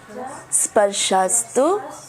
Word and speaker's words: स्पर्शास्: ठीक है, मात्रा स्पर्शास। ये देखा मैंने अभी गड़बड़ किया ना, स्पर्शस। हम जब बोलते हैं तो हम गड़बड़ करते हैं, बट यहाँ इसीलिए एक के ऊपर मात्रा है, स्पर्शास।